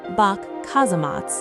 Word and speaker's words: Bock Casemates: The Bock Casemates, pronounced Bock Kazematt, are a massive network